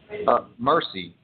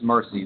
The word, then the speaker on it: Mercie: about your newest book her name is and pronounce the name for me please mercy yeah the her name is mercy the spelling throws the world throws people off